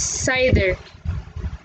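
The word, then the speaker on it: CIDR: less to see so the formal name is classless inter-domain routing or what be pronounced as cider so let's proceed to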